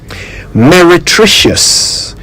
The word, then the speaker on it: meretricious: that we've talked about on say it right meretricious m e r e t r i c i o u s meretricious it describes something that seems attractive but